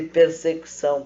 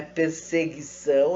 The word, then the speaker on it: persecução: A atividade de persecução penal, que não é perseguição, é persecução, um termo técnico diferenciado, que pode às vezes ser confundido pela semelhança da pronúncia, mas é persecução penal, esta atividade de ir